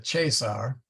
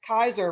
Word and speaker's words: Caesar: actually it's uh uh chasar not Julius Caesar so just be aware of that hey Michael the classical Latin it's pronounced Kaiser right as in what the German leaders yes one time yeah